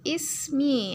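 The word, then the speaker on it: اسمي: Jadi bacanya ismi ya, disambung jadi seperti ini ya, huruf ini.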